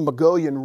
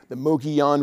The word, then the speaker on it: Mogollon: And that's the Mogollon Rim off in the distance, or the Mogollon Rim, different pronunciations of it.